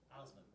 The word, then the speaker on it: Osman: How's it pronounced? Osman.